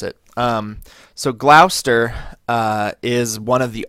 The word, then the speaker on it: Gloucester: know that it sounds like it looks like Gloucester but it's Gloucester that's how you pronounce it um so Glouster uh is one of the Old Guard right